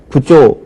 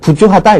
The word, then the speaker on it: 부조: 예를 들어서 남을 도와주다, 돈으로 도와줄 때 우리가 부조 혹은 부주하다, 일반적으로 이렇게 얘기하죠. 부주하다라고 얘기를 하지만 이것은 원래 한자음을 따라서 역시 부조가 맞겠고요.